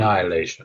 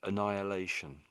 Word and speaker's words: annihilation: So, it's almost to me that the H is silent.